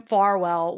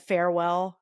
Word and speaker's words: Farwell: Stalton Journal, Matthew William Farwell, which every time I see it, I say in my head, farewell because it's spelled like that pretty much, you know, minus an E.